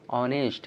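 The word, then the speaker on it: honest: ऑनेस्ट देखिए यहाँ पर समझ लीजिए, ऑनेस्ट, फर्स्ट लेटर क्या है उस पर डिपेंड नहीं कीजिए, फर्स्ट साउंड क्या है उस पर ज़्यादा इंपॉर्टेंट है। यानी कि प्रोनाउंसिएशन की हमारी पहली साउंड क्या है, पहली साउंड है हमारी ऑनेस्ट, क्या है, ऑनेस्ट, इसलिए आर्टिकल कौन सा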